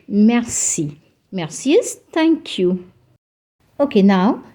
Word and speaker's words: merci: 90 of the people I think you'll be pronouncing it as Mercy it's not Mercy it's Mercy don't give a little stress on the r and say merci mercies thank you okay now let's summarize what